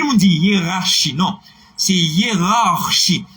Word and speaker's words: hiérarchie: C'est hiérarchie. Bon, R, il y a une tendance pour oublier dans ça. C'est hiérarchie. On est là.